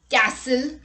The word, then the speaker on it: castle: look at the rule t is not pronounced in this common words let's look at the examples castle christmas fasten listen orphan